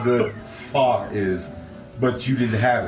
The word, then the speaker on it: pho: The internet won't shut up about whatever the fuck pho is.